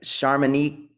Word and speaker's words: Charmonique: And I want to, I think I don't want to mispronounce, is it Charmonique? Yes, that's perfect. Charmonique.